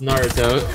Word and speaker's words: Naruto: that's where you're wrong first of all it's pronounced Naruto hey you guys